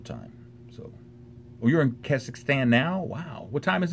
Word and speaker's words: Kazakhstan: say that cass cause kazakhstan kazakhstan is how you say that kazakhstan are you there